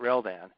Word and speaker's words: Reldan: All right, so my given name is, and my dad spelled backwards and got Reldan. That's how you say it, Reldan.